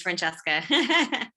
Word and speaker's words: Francesca: And you pronounced it perfectly. It is Francesca.